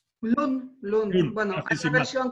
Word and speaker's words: Lun: ¿Cómo se pronuncia? Lund.